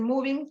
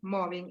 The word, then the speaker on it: mobbing: En Argentina le llaman mobbing, a veces lo pronuncian mal y le dicen moving, pero no, porque es mobbing en su caso.